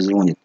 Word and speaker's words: звонит: Правильное ударение в слове звонит. На последний слог звонит.